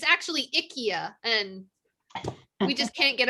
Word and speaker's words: IKEA: wrong it's it's actually ikea and we just can't get over it really it's ikea that is how you pronounce it in swedish that is how it's